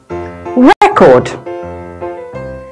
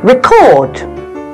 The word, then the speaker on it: record: had the word record as a noun the stress falls on the first syllable record now you try record however when the word